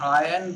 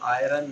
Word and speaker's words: iron: हाँ, आयन बोलते हैं, आयरन नहीं. आयन. Iron. आयरन नहीं, आयन. Iron. Iron. आयरन तो फिर लोहा हो जाएगा. Yes. आर इसमें साइलेंट है.